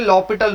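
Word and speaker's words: L'Hôpital: एल हॉस्पिटल भी बोलते हैं और लॉपिटल रूल बोलते हैं वैसे। ठीक है, लॉपिटल रूल। हाँ, ये वो साइलेंट वायलेंट होते हैं ना, वो वाला चक्कर है। ठीक है, तो इसलिए बोलते हैं लॉपिटल रूल।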